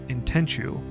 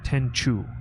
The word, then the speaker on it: Tenchu: Tenchu. But I pronounce it Tenchu. I think it's pronounced Tenshu, but it's with a C instead of an H.